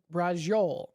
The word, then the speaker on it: braciole: Now, thank you, Greg, for telling me how to pronounce this. It is braciole.